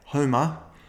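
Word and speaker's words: HOMA: I'm going to talk about insulin and a fasting test called a H O M A all in capital letters and you could pronounce that Homer.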